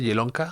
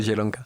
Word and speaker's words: Zielonka: ¿Cómo se escribe Jelonka? Jelonka como con Z-I-E. Jelonka, L-O-N-K-A.